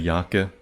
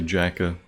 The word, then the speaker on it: Jakeh: I don't know how you'd pronounce that in English, but in Hebrew you just say Yakeh. But in English you might say Jakeh, Jakey, something like that. Whatever works, basically.